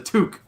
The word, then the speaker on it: toque: too long a word it's a toque one syllable one word for one i think